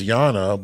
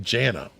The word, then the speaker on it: Jana: everybody would think Jana. That's what they think, but it's pronounced with the Y. The J and the Y's are backwards.